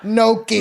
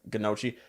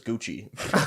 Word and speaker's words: gnocchi: Like we got the gnocchi. The funniest pronunciation of that I ever heard was Gucci. We had a waitress that, who would call it Gucci.